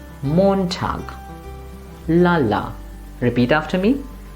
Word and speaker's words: Montag: should we say it since it's a German word the stresses in the beginning so we must always say Montag repeat after me Montag or this one again